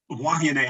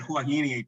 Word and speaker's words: Huahine: So, because Huahine, I know, and we always have said Huahine, but I know that I hear the locals pronounce it differently. And as Larissa just pronounced it, my understanding is that all of the vowels are pronounced in the Tahitian language.